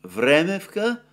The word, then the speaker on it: Vremevka: but which I'm told should be correctly pronounced Vremevka, Vremevka, and it's apparently not a ledge, but a salient.